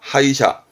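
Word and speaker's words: 歯医者: 자란 뜻이죠 그렇죠 이샤 그래 그래서 치과 이사합니다 하이샤 하이샤 해 치과의사 내지는 치과를 말하기도 하지요 하이샤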